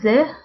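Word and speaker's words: ز: in the third row they is pronounced as ze just like the z of zone and with the harikat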